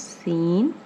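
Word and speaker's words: سین: and it's pronunciation is seen and its sound is like the alphabet s next is 20th which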